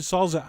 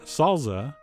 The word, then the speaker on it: salsa: salza a try and yes that is how you pronounce it salza I mean come on who are you going to believe me or your Spanish teacher but anyway no matter